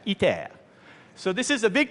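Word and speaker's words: ITER: was pretty good now this is e pronounced in French e so this is a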